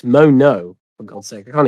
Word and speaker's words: Mono: Oh, Momo. Oh, yeah. I'm not even saying it right. It's Mono.